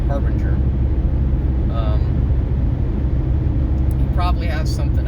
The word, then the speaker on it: Harbinger: jordan harbinger yes i was saying it wrong harbinger um you probably have something out that i